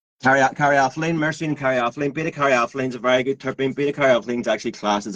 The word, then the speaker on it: caryophyllene: I'll let you pronounce easily. The dyslexia was coming out in me. Myrcene and caraflene. Caryophyllene, myrcene and caryophyllene.